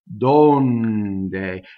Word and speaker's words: donde: see it sings so n does whatever the next consonant does donde and by never ever ever donde you know the way we say D in English with air going through Italian consonants are way closer to a voiced consonant than an unvoiced even when it's unvoiced it's it's as voiced as it can be and then you slightly are it's unvoiced after that next word leotta ok